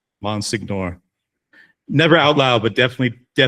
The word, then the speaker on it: Monsignor: been just sort of mentally mispronouncing Monsignor this entire time. Probably with a hard G. Monsignor. Monsignor.